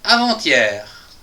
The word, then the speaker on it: avant-hier: Et un dernier mot, le mot avant et le mot hier qui va donc nous donner en avec une liaison avant-hier. Avant-hier, j'ai fait ceci. Avant-hier, j'ai fait cela. avant ti et h i ti avant ti voilà je crois que